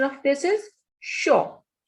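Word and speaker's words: chaud: CH is sh. AU is O. The pronunciation of this is shaw.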